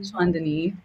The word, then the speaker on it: Chaandani: And so I'm like, Chaandani. Chaandani. Chaandani. Like a knee on your leg. Chaandani.